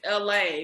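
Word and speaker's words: Elhae: there's this other guy his name is la but it's spelled e-l-h-a-e that's right somebody was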